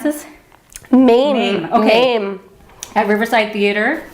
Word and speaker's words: Mame: How do you pronounce this? Mame.